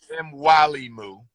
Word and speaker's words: Mwalimu: MWAL. Okay. IMU. Mwalimu. Okay. Baruti. BARUTI. 1 second, Riley. Okay. MWALIMU. Is that right?